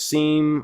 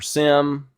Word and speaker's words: SIEM: This SIEM and SOAR capability, it's SIEM or SIM, depends on how you pronounce it, however you decide to pronounce it.